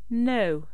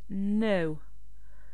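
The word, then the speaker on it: know: conserver keep connaître savoir no donc on ne prononce pas le K lorsque la lettre K est suivie par un E n donc ça se prononce no c'est la même prononciation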